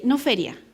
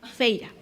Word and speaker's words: feira: Domingo y segunda, pero festa, feira, eso es lo que no me acordaba, feira. No feria, feira.